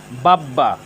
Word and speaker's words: বাব্বা: সুন্দর করে জেনে নেই বাব্বা এখানে ব এর সাথে ব ফলা যুক্ত হয়েছে ব এর সাথে ব ফলা যুক্ত হওয়ার কারণে এখানে ব ফলার উচ্চারণের কোন পরিবর্তন হয়নি ব ফলার উচ্চারণ অবিকৃত